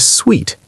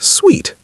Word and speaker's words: suite: Sweet is pronounced like the word sweet, sweet, sweet. It rhymes with meat, feet, and street.